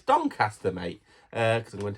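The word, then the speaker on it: Doncaster: the dcast don don I'm pronouncing things so weirdly donter it's Don cter mate uh because I'm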